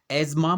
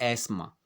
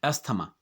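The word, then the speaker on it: asthma: तो ये इंग्लिश में एजमा बोला जाएगा या फिर एस्मा, ना कि अस्थमा।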